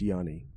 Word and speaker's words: Gianni: Make a good friend named Gianni, pronounced Yanni.